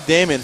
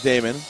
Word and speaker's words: Damon: Thank you to Jeffrey Damon, father of David Damon. He helped me learn the pronunciation of his son's name.